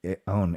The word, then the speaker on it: Aoun: Aoun, A-U-N, Aoun.